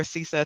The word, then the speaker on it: CISA: Jen easterly director of sisa sisa or cisa tomato tomato however you choose to pronounce it and then day three